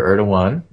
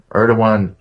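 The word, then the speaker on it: Erdoğan: A few weeks ago, just after Erdogan, I think is the proper pronunciation, visited the White House, a bunch of Turkish goons kicked in the heads of protesters outside the country's embassy.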